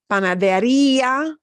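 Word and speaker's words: panadería: together yeah but here we're punching the e sound more than the Assam Panaderia but farmacia farmacia obeys the rule no accent mark needed can you hear the difference they both have an e uh ending but this yeah all hands together farmacia all runs together very quickly yeah but here the EA doesn't run together quickly the E gets more punched yeah and most of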